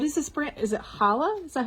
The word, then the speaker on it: Chala: Is it Chala? Is that how you pronounce it? Chala.